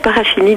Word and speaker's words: Parachini: Petite précision, on prononce Juliette Paraakini Deis ou Parachini Deis ? Alors moi je l'appelle Juliette Parachini deis.